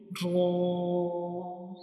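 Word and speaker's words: ر: When we pronounce ra, the sound fills into the mouth like ra. It's a heavy letters, and we read it with heavy sound like ra, ra.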